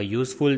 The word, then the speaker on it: useful: We say a useful thing because useful pronounced with consonant y.